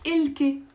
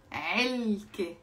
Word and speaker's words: علكة: It's not إلكة. علكة. علكة. I've been living in the UK for 10 years, yes. So, علكة. With the تي مربوطة, that you don't pronounce.